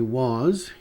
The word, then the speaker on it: was: Então, I was, lembrando sempre que esse é o som de Z. I was, you were, he was, she was, it was.